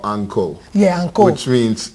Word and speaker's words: encore: Yeah, anko. Anko, encore. Oh, nice. That's my dialect. I'm originally from the United States, of course, in Virginia. So my dialect would say encore.